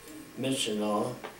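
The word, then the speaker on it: Myitkyina: up in Northern Burma please call menion which is spelled m y i t k y i n a which if you can find a better pronunciation but that's how it's pronounced and as I mentioned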